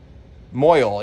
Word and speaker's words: mohel: He's called a mohel, a mohel. How do you pronounce that? I'm German, not Jewish. Moyle, yeah, it's a moyle.